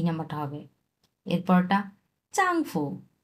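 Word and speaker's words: 丈夫: এরপরটা চাংফু। চাংফু। এই ফুটা নিউট্রাল টন।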